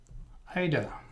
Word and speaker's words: Aida: correctly, exactly, it is Ida. Okay, the correct pronunciation is Ida. Thank you for that. I do like to pronounce people's names correctly. And even, let's see, AIDA is pronounced Ida.